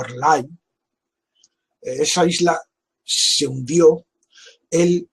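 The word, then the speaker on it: R'lyeh: también de nombre impronunciable se escribe el guión y se pronunciaría algo así como airlines esa isla se hundió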